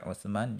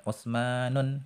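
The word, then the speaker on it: عثمان: kita kasih tanwin ya jangan sampai misalnya membaca Utsman itu dengan utsmanun gitu salah atau Zainabun salah ya jadi manfaat yang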